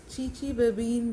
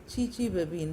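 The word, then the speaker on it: Chichibabin: इस रिएक्शन को चीचीबेबीन reaction, CHI BABIN, चीचीबेबीन, या ऐसे भी स्पेल कर सकते हैं इसको, TSCHI TCHI BABIN, चीचीबेबीन reaction pronounce किया जाता है।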